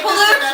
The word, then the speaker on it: Quileute: Like think of it as Kwaluute. Quileute. But I thought it was Q-U-I. It is, but it makes the qua sound.